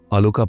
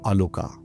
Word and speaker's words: আলোকা: ও আসলে একটা mail dog, তবে উচ্চারণের খাতিরে বা হিন্দি টানে ওকে সব জায়গায় আলোকা বলে উল্লেখ করা হয়েছে। ঠিক যেমনভাবে আমরা অনেক সময় অশোককে অশোকা বলে থাকি, এটাও ঠিক তেমনই।